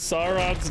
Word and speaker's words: Sauron: more grumpier goat says anyone who pronounces sauron's name in a way that doesn't match with the pronunciation of dinosaur is wrong and no amount of citations will convince me otherwise dude I love you